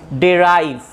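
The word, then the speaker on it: derive: আচ্ছা, প্রথমে আগে আমরা প্রথম যে ওয়ার্ডটি এসেছি সেটি হচ্ছে ডেরাইভ। এটাকে তুমি অনেকে ডিরাইভ বলো, নো প্রবলেম, বোথ প্রোনাউন্সিয়েশনস আর কারেক্ট।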